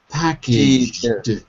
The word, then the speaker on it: packaged: So listen to how I say it. It's jed at the end. Packaged.